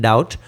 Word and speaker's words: doubt: Other times, silent letters are simply vestiges of the word's history, such as the B in debt and doubt, which were once pronounced but eventually became silent.